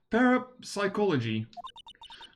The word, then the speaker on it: parapsychology: Parab pars parapsychology. That's right. Um I think people like usually call it or called cities or something. The second P is silent.